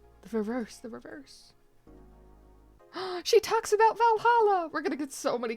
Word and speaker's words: VA-11 HALL-A: The name sounds silly and a bit hard to pronounce, but good thing it's actually called Valhalla. The funny numbers and letters are just a code.